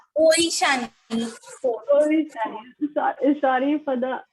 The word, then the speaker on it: Oishani: Miss, it will be better if you pronounce with OI, then it will be ओइशानी. ओइशानी, but it's written AI ना? Ma'am in Bengal Yes. A becomes O.